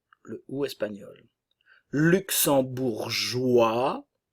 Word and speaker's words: luxembourgeois: u le ou espagnol luxembourgeois le S ne se prononce pas nous avons le son